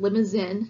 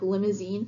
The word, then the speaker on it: Limousin: lemons in cattle and and is pronounced just like that lemons in not like limousine the car and these are originated